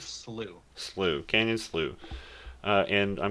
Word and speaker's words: Slough: How do you say it? Slough? Sloth? That is Slew.